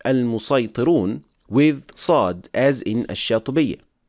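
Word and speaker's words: المصيطرون: The word al-musaytirun, it is pronounced with seen in al-fil, al-musaytirun, and in Ash-Shatibiyyah you can have it in both ways, with seen or sad.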